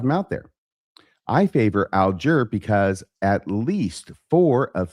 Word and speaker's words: Alger: This particular surname goes by different and sometimes conflicting pronunciations and he gives a lot of them out there. I favor Alger because at least four of Fann's brothers and